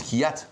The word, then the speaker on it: Kvyat: à cause de la difficulté que pose la prononciation de son nom, Daniil Kvyat. Kvyat. Je pense qu'il y a un russe qui hâte, formidable, dans les points pour son premier Comment tu dis, toi?